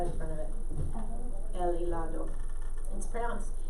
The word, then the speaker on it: helado: El helado. It's spelled with an H, but they don't pronounce the H, so helado.